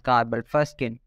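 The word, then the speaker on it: carbol fuchsin: So in the first step of Ziehl Neelsen staining technique, we apply a stain known as carbelfustin. Some people pronounce it as carbelfuskin.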